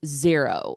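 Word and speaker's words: Xero: I use zero. It's it's spelled X er O.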